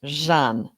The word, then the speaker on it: Jeanne: I'm doing great except my name is pronounced Jean and I didn't tell